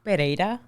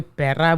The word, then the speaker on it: Pereira: do you pronounce it well it's pereira that's how you say in spanish pereira but i mean my boyfriend is just like pereira some people call me pera which is like she's